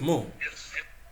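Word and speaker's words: mol: the more is mou m o l pronounced more then there is the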